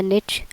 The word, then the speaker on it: niche: आज के लेक्चर में हमने देखना है कि कौन सी नीश जो है या निच अच्छा यह जो वर्ड है इसको अमेरिकनंस जो है इसको निच बोलते हैं और ब्रिटिश लोग इंग्लैंड के वो इसको नीच बोलते हैं।